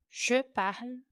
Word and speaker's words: parle: Tudo com e mudo no final, pronunciando somente o L, sem fazer o som da vogal no final. Je parle, parle, il parle, el parle.